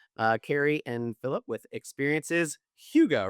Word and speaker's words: Hygge: from Quebec, Canada, Kerri and Phillipe with Experiences Hygge, right? Hygge. Excellent. We were just talking about how to pronounce that.